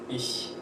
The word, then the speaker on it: ich: We pronounce this in a very special way. For example, we have the phrase ich.